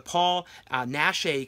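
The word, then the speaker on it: Paul Naschy: is you know the Paul nashe collection I believe that's how you say his name collection here and this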